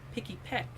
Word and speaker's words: Pikipek: I said the name wrong. Pikipek.